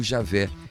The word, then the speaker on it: Javé: nome vem sendo substituído pela forma e a ver ou Javé que é pronúncia mais próxima do original o tetragrama vem